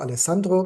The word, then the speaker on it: Alessandro: Alejandro or Alessandro, depends if you want to pronounce it Spanish or Italian, as he was an